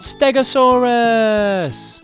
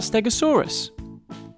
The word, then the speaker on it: Stegosaurus: to learn all about Stegosaurus how do you say that again stay go saw Russ can you say it with me stay go saw Russ so what do we know about Stegosaurus it was found in